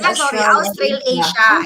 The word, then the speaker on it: Australasia: Ano pang pronunciation nito? Australasia? Australasia. It's actually Australasia.